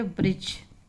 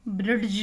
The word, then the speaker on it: bridge: तो जैसे लिखा हुआ है BRIDGE, इसको हम पढ़ेंगे ब्रिज। इसका जो उच्चारण होगा वो ब्रिज होगा, ब्रिड्ज नहीं पढ़ेंगे इसको, क्योंकि यहाँ पर डी क्या हुआ, साइलेंट हो गया।